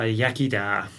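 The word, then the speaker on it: iechyd da: And in in in in Welsh, uh how do you say cheers or uh yakida?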